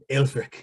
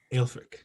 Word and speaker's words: Aelfric: Aelfric is my name. How do you spell that, Will? How do you spell that? Aelfric. R-I-C. Aelfric.